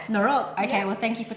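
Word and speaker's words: noroc: We say norok. Norok.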